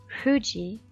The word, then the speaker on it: Fuji: indicated with this symbol japanese people pronounce Fuji in a fashion that sounds to us as if they simply have an accent however their sound is nothing at all but a bilabial fricative indicated with this symbol